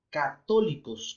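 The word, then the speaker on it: καθολικός: de la palabra griega católicos con ka y acento en la última y católicos es con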